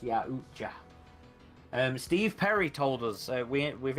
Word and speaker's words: Yautja: Caleb says, who said it's pronounced Yautja?